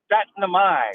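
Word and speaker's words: Syttende mai: I always forget how to pronounce it. Setnamai.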